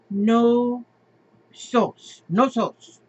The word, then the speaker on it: Knossos: would you say that knossos crete Heraklion look at these the architecture in there look at this and this one he says okay gnosis gnosis pronounced no sauce no toes maybe the oldest known